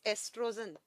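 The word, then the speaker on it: oestrogen: जाता है एस्ट्रोजन को, एस्ट्रोजन को ओ से लिखा जाता है लेकिन प्रोनाउंस एस्ट्रोजन ई से किया जाता है।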